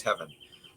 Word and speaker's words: Hevin: By observing public data, the researchers found that heaven levels, that's spelled HEVIN, levels in the brain of Alzheimer's patients decrease compared to healthy individuals of the same age.